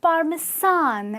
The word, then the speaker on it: Parmesan: The pronunciation is parmesan. Okay, so if you want some, grated Parmesan cheese on your pizza, remember it's Parmesan, the sound with a Z, and this not the